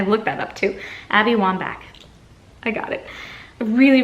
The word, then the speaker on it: Wambach: Pack by Abby Wambach Wambach I think I'm pronouncing her name right I listened I looked that up to Abby Wambach I got it I really really like this